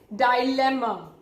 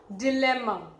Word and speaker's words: dilemma: dauntless, the two pronunciation, we can also pronounce this word D-I-L-E-M-M-A as dilemma or dilemma. Okay, you can pronounce it either way. Now British generally they pronounce it as dilemma. Dilemma is also, again, it's not incorrect.